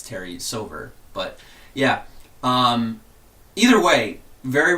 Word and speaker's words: Silver: Was it Silva or Silver?